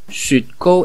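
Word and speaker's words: 雪糕: Sut, sut, esa es una U, poniendo la boca como decir U, pero en vez de decir U dices una I, es una U, sut. Y kou lleva tilde o acento en el O, o sea, es un tono alto.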